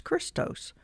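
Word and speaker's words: Χριστός: the name of Christ the Greek word for Christ is Christos and it's x-r-i-s-t-o-s pronounce Christos when many Greek Gentiles accepted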